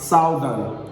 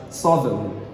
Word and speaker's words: southern: you pronounce this one i've heard students and even speakers of english language pronounce this one as southern southern this is very wrong this is absolutely wrong the correct pronunciation of this one is no longer southern it is pronounced as suddenly suddenly suddenly so the